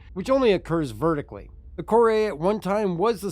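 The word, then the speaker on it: Kore: vastly different the Mis Reliant core or core depending on which way you prefer to call it the official pronunciation though is cor and the Drake heral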